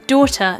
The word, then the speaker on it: daughter: is the word daughter daughter includes this o sound at the start which is also present in the word water so water daughter they have this curled round o sound at the start of them oh the way that